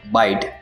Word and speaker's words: bight: बाइट, बाइट, बाइट, तीनों words के pronunciation same है। पहला जो वर्ड है बाइट, जिसका स्पेलिंग है BIGHT, जिसके मीनिंग्स होते हैं खलीज, रस्सी का फांस, घुमाओ।